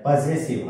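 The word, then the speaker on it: possessive: ते जरा सांगणार आहे पजेसिव हा उच्चार बघा स्पेलिंग विचित्र आहे पी O double S E double S आय व्ही पजेसिव इथे लिहितो मी व्यवस्थित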